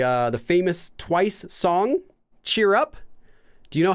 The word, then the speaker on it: Cheer Up: in in their song do they say Cheer Up cheer up baby cheer up no they they say chat up chat up like catchup or something chat up baby chat